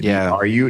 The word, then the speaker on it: Bru: Yeah, so we just did BRU. That's why we did BRU. And then Brothers was BRU. And it looks like bruh, but it's Bru Brothers.